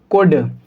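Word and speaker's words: could: जब कभी भी डी से पहले एल को लिखा जाएगा तब एल साइलेंट होगा। तो हम इसको क्या पढ़ेंगे? कुड, वुड, शुड।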